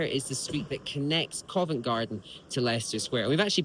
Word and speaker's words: Covent Garden: convent, and then the Covent Garden. And now the N is silent and invisible.